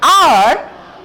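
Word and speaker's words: hour: When we say height, we pronounce the H, but here when we say R, we do not pronounce the H. H is silent.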